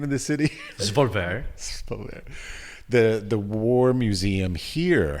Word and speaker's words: Svolvær: But there's also the connection with the War Museum here in I'm so bad with pronunciations. What's the name of the city? Svolvær.